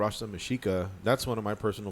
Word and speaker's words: Mexica: Mexica. It's the native. Yeah, the native way of saying Mexico. You know, the Mexicans and Mexica people. Mm-hmm. The X is pronounced with the SH.